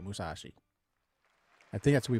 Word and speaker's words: Musashi: Musashi's how you, that's how you say it, Musashi.